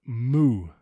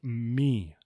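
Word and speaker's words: μ: but it's actually Lampa this is not moo this is me same thing for this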